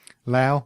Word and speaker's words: Laos: We've just been talking about Lao or Laos, depending, as I said, on who you talk to about how to pronounce it. I found both pronunciations on the internet, so I'm giving you both.